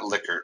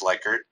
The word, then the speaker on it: Likert: Am I pronouncing that right, Meredith? It's not Likert, right? It's Likert.